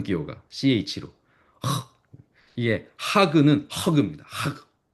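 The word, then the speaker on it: חג: 하 이것은요 목을 긁는 소리를 냅니다.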